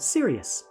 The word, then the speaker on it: Sirius: in the night sky that star is called Sirius and yes I'm being serious it's spelt with a